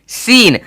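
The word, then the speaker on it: scene: ठीक है अब देखिए एस सी ई एन ई सीन अब अगर आप देखोगे यहां पे अच्छे तरीके से तो एस के बाद सी है तो सी का साउंड नहीं आना चाहिए जो कि हो भी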